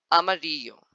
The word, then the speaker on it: amarillo: When it's written double L in Spanish, they can be pronounced like Y as yacht in English. For example, amarillo.